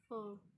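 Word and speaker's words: fork: फोक। इसमें are silent होगा, इसको हम लिखेंगे लेकिन पढ़ेंगे नहीं।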